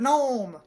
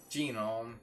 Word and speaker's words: gnome: It's like the word gnome. Gnome? Genome. Gnome. That's how it's spelled.